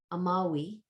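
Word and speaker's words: amavi: This one, third one, means I loved, amawi. The V is pronounced as a W.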